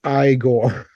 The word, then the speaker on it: Igor: Igor, but pronounced Igor. I gore, you gore, we gore.